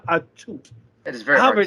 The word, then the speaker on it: Atout: respect for the lady can barely say her name right it's alicia attute it's not that hard to say it's alicia a toot that is very happy